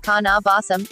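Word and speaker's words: kaneh-bosm: becomes apparent so then to pronounce this we have Cana vaasam and is spelled in English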